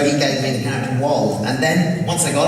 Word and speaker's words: Wald: Now Wald, am I pronouncing that? That's it, that's Wald, yes.